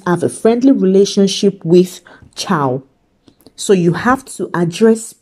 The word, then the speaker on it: ciao: So the common greeting almost everyone knows is ciao. So it is pronounced ch-ow, ch-ch-ciao.